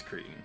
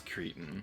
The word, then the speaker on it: cretin: It's silly, but the way I remember how to pronounce that word is in Monsters Inc. when Mike is being interrogated by Randall, and he's like, okay, first of all, it's Cretan. If you're going to threaten me, do it properly.